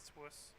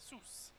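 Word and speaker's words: Sws: You could say Swiss, but in Welsh, the letter W is pronounced as like ooh sounds. So we say Sus instead of Swiss.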